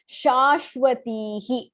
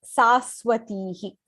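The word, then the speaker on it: शाश्वतीः: Even in the 41st shlokam, Shashwatihi, not Saswatihi.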